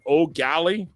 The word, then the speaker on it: O'Galley: And he says it O'Galley that's the way he actually would say it. O'Galley, like the way Nolly said it. O'Galley. That's how you pronounce it.